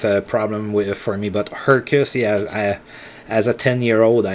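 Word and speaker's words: Hrkac: guys on Quebec who, one of them named Tony Herkus, yeah, which is spelled H-R-K-A-C, and Stefan Morin, M-O-R-I-N.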